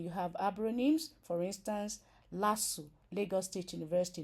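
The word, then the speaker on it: LASU: is an acronym for human imuno deficiency virus pronounced as letters the letters itself then you have abony for instance lassu Lagos State University not LSU okay then you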